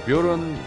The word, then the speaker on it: Bjorn: 뷰런. 뷰런. 예. 그쵸. 이쪽 동네는 제이를 그쵸. 뷰런. 예. 윤센 이런 애들 다 제이니까. 예.